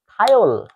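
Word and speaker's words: thiol: এটার উচ্চারণ হবে থায়োল।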